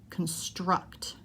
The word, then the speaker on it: construct: construct are both verbs which syllable am i stressing the second syllable the last syllable connect construct highway noun a main